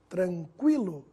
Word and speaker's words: tranquilo: pronunciado nas seguintes palavras quilo adquirir química agora tranquilo Equino iniquidade vamos ver a diferença da pronúncia do Gu mudo para o Gu pronunciado